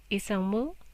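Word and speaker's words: 이상무: So that word there, that Korean word, pronounced isangmu, meaning nothing abnormal, is typically used in formal contexts.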